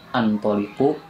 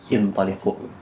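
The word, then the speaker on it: انطلقوا: Maka dibacanya bukan antoliqu bukan untuliqu tapi intolqu.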